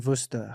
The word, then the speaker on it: Worcester: So your farm is in Worcester. Is that even the correct way to pronounce it?